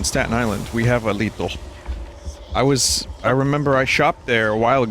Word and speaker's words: Lidl: both that Lidl comes from Germany and is pronounced Lidl. Interesting. I told the chat, we have one on Staten Island. We have a Lidl.